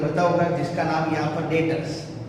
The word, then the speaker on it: debtors: और last one जो डेटर्स, word याद रखना फ्रेंड्स, यहाँ पर डी वर्ड साइलेंट है, स्पेलिंग है DEBTORS, डेप्टर नहीं है, डेटर्स।